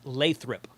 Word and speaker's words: Lathrop: Paul Lewin in the chat says it's pronounced Lathrop.